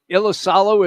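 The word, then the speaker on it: Iisalo: And we will start with the Memphis head coach, and his name is pronounced how, Jamie? Uh, Io. Ilisalo is Ilisalo.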